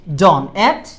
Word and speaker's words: dawn: যে at হচ্ছে at dawn উচ্চারণটা কি dawn হ্যাঁ আবার ডাউন বলেন না কেউ হ্যাঁ at dawn মানে